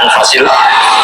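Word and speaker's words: أنفس: kutub kalau saya baca anfasil kutub karena maknanya kitab ter baik Kalau kitab terbaik bacanya bukan anfus tapi apa anfas ya nanti kamu debat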